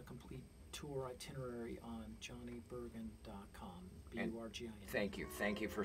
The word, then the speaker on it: Burgin: My special guest today is Rockin' Johnny Burgin, and he will be tonight at Lions Bay at a house concert there in North Vancouver, British Columbia.